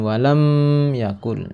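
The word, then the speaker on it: وَلَمْ يَكُنْ: Walam ini ada hukum bacaan idhar syafawi, ya, pendek bacanya, jangan panjang karena ada mim mati bertemu dengan ya. Walam yakul, jangan walam yakul, salah.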